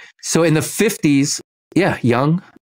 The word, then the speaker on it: Jung: It's pronounced Young.